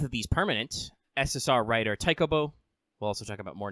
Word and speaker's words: Taikōbō: SSR writer Taikōbō. We'll also talk about more names later, but the Japanese pronunciation is Taikōbō.